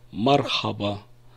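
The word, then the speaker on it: مرحبا: мы будем говорить по-арабски мархаба мархаба привет ты звук хит он должен быть гортанным мы не умеем его правильно произносить поэтому можно произносить как русском языке мархаба и чтобы понять откуда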